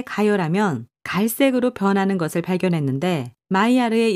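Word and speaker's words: Maillard: 마이야르가 아미노산, 바로 단백질과 당질을 함께 가열하면 갈색으로 변하는 것을 발견했는데 마이야르의 영어 발음인 메일라드를 따서 이 반응을 메일라드 반응이라고 부르게 되었다.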